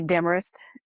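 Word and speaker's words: Demorest: It's really hard for me to pronounce. Oh, it's actually Demarest.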